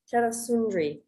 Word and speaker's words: Tera-Sundri: How do you pronounce the last one? Tera-Sundri.